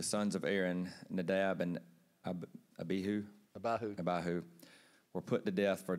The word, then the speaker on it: Abihu: You pronounce that second name how? Abihu.